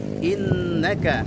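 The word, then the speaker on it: إِنَّكَ: Innaka ada nun bertasydid, diberikan gunnah di situ.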